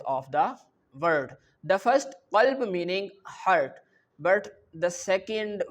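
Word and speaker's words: قلب: If I recite this word qalb, the letter qaf which have a thick sound. Okay, this letter qaf in the previous lecture you already learned that this qaf is pronounced from your throat and this qaf have a thick sound.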